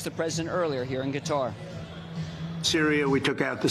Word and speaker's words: Qatar: It's not guitar or Qatar, which is a chest infection. Qatar is the way it's pronounced.